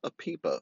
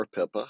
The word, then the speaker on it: APIPA: own little process called a PIPA, or a PIPA, however you want to pronounce it. It's A-P-I-P-A.